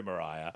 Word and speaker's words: Mariah: wrong and then you put Mar I'm sorry Mariah um and your favorite Christmas film uh oh